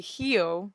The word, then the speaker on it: Rio: feijoada yeah I know that Rio is actually Hyo so I wasn't sure